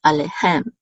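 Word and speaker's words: אֲלֵיהֶם: This is the accent mark for this word, and it's over the last syllable, so it's alehem, alehem.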